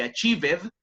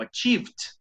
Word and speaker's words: achieved: Generalmente no se pronuncia esa e como ed, no se dice achieved, sino achieved. Pero sí, el verbo base es achieve. El verbo en participio, achieved. Tiene como una prácticamente T al final, ¿no es cierto?